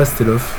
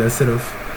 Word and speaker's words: Hasselhoff: Pour les fans de David Hasselhoff, d'ailleurs, je crois que ça se dit pas Hasselhoff. Ça s'écrit Hasselhoff, mais c'est Hasselhoff.